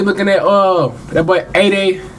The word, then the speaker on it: Aday: at uh that boy a day. That's how you say his name. A day a day Mara.